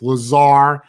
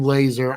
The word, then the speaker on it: Lazar: that name up it's lazar i know it's lazar i keep saying laser i don't know why